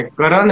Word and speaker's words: कर्ण: एक क्वेश्चन है क्या, आपका जो स्पेलिंग है कर्ण, आपका प्रोनाउंसिएशन कैसे, करण है कि कर्ण है? कर्ण, के ए आर एन, कर्ण के ए आर एन।